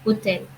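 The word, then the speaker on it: hôtel: We call it hotel because in French, most of the time, the first H is silent or H overall is silent. So we call it hotel.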